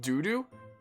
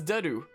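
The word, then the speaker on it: Dedue: It's pronounced doo-doo? No, the freaking Dimitri says dedu.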